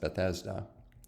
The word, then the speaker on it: Bethesda: is a pool called in hebrew it's normally pronounced bethesda and let's look at that just for interest